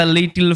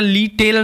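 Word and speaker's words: little: অ্যান্ড মানে এবং, দ্য লিটল মানে ছোট্ট, এটা লিটেল নয় বা লিটিল এরকম উচ্চারণ নয়, লিটল লিটল এরমভাবে উচ্চারণ করতে হবে।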